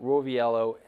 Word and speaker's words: Roviello: treat for you um so I've got roell am I pronouncing that correctly said it right okay um